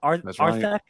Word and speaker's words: Arthak: Like I said, Arthak is how you say the name. Arthak.